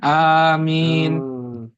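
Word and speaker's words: آمين: itu membacanya amin ya A-nya itu panjang kemudian ee min itu panjang juga ya panjang juga i kalau itu yang benar kebetulan ada kebetulan ada misalkan anggota keluarga saya sih yang yang pengucapannya kurang tepat boleh saya betulkan berarti ustaz ya itu panjang karena tulisannya kan antara mim dan nun itu ada ya. Maka paling tidak minimal dia baca dua harakat.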